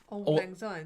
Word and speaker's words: Auld Lang Syne: Auld Lang Syne. Yeah, that's how I said it. Yeah. Didn't I? I said eyes. Like eyes.